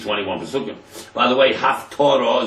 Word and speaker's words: Haftorah: By the way, Haftorah is written with a test. Torah is written with a tough, 2 different words, you can't even pronounce them the same.